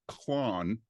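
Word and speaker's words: Klon: that didn't have umlas you would type k l o en k l o n oh and it would be pronounced clone right gotcha yeah so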